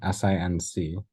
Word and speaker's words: sinc: One of them is the Rect function, which you know about, and the other one is the Sinc function, S-I-N-C, it's pronounced Sinc, which we're going to talk about today.